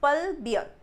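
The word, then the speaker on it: plebeian: पल्बियन, it's pronounced as पल्बियन, इट्स पल्बियन. देखो जरा answer क्या आ रहा है.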